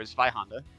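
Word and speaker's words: Zweihänder: So, the sword is a Zweihander, or Zweihanda, if you want to pronounce it properly, which is it's basically a gigantic two-handed sword.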